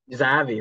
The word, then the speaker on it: Xavi: This stems directly from the fact that one Xavi, is that how you pronounce his name? That guy who's coaching for Brocalona somewhere in Spain. Oh, Uh, Zavi. Xavi, there it is.